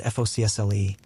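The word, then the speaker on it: forecastle: With the crews living quarters, the folil, pronounced by sailors as FOCSLE, crammed into the bow, the narrowest, most cramped, and most violently pitching part of the entire vessel.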